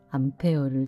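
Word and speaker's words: Ampère: 알파벳 A는 전류의 단위 암페어를 줄인 약어입니다. 1월 20일 오늘은 프랑스의 물리학자이자 수학자 앙드레마리 앙페르의 생일인데요. 정기역학 연구에 전념하여 전자 계약의 혁신을 일으켰습니다. 전류를 측정하는 단위 암페어는 앙페르의 이름에서 따왔는데요. 영어로 발음하면 암페어.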